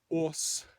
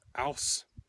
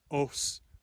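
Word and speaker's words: óss: Then there is os, or aus, according to the Icelandic rune poem, os, according to the Norwegian rune poem.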